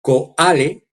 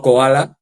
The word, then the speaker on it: Coale: Y un enviado, el abogado, el senior advisor de uno de los abogados principales que tiene Trump, John Coale, no Koala, es con C, John Coale se escribe, que es